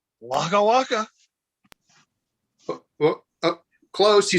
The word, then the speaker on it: Oaxaca: the and there's a state in mexico called oaxaca which by the way is spelled o-a-x-a-c-a it's like what is that even english so so what is what is mexican fuzzy bear say wagawaka oh close he says where are my children